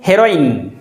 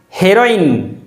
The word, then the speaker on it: heroine: is simply heroin heroine there is stress on the sound hey and therefore it should be pronounced as heroine the next word is